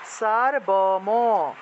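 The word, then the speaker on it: সর্বম্: এটা উচ্চারণ হবে তাহলে সার্বম সার্বম এভাবে উচ্চারণটা হবে ঠিক আছে সার্বম সার্বম এভাবে উচ্চারণ হবে সার্বম হসন্ত থাকলে একসাথে সার্বম আর যদি হসন্ত না থাকে তাহলে আলদা আলদা উচ্চারণ সারবম সার্বম এইভাবে উচ্চারণটা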